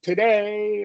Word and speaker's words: today: that first schwa syllable is is the beginning of that and today right it's the same kind of thing tada you get